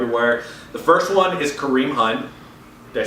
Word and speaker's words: Kareem Hunt: The first one is Kareem Hunt.